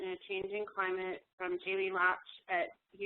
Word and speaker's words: Laatsch: a Changing Climate from Laatsch at, am I pronouncing that right? Laatsch? Yep, that's it.